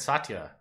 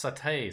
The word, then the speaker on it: satay: a satire tacklers aware I was really close when I said Satya sauce it's satay sauce satay I don't know how